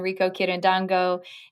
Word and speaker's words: Rico Quirindongo: being on the show today you can find rico kirin dango and his name is spelled r-i-c-o-q-u-i-r-i-n-d-o-n-g-o so you can find rico online